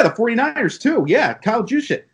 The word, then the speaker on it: Juszczyk: Yeah, Kyle Juszczyk. How do you say his name? I think it's Juszczyk. Juszczyk. Kyle Juszczyk.